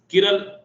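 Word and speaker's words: chiral: हो उसे कहते हैं, कुछ लोग कायरल बोलते हैं, कुछ लोग किरल, जो भी बोलो, किरण नहीं किराल, किराल कायरल, जो भी बोलो अपना अपना प्रोनाउंसिएशन से। मैं तो कायरल ही बोलता हूँ, उसे कहते हैं कायरल मॉलिक्यूल, है ना।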